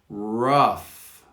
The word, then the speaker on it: rough: banquet consequences consequences consequences rough rough with an f not a gh rough embark embark if